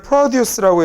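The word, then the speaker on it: produce: 얘를 프로듀스라고 이렇게 앞쪽에다가 이름절에다 강세를 줘서 읽으면 얘는 농산물이라는 단어가 돼요.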